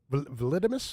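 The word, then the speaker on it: Vltimas: Oh, Vlidimus, yep. Vlidimus. Vlidimus, who's David Vincent from Morbid Angel fame, his other band who's really, really different and cool. It's like Vlitmus. Yeah, Vlidimus is how you pronounce Isn't it. that Oh, like really? one of them strips that you check acidity?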